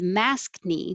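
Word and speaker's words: maskne: a new phenomenon phenomenon is mask knee when you have breakouts around your mask area they just combined mask and acne masked knee and 22 and 23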